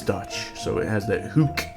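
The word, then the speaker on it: Hoek: I believe he's Dutch so it has that hook pronunciation the OE is like Ronald you know that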